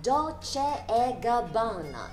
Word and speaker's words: Dolce & Gabbana: he he he，前面再加个 p 就是 prairie la prairie。咁英文读音咧就简单啲嘅，就唔使用喉咙发出嚟，只系卷嚟就得噶啦。所以系 la prairie la prairie。最后我哋有意大利品牌 Dolce & Gabbana，第一个音咧同英文代表公仔 doll 嘅音一样 doll。第二个音咧就系用 ch 发出嚟嘅 ch。Dolce &